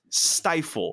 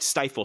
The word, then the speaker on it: Stifel: But not only, Tyler, is it the Jimmy Kimmel Bowl, it is also presented by Stifle.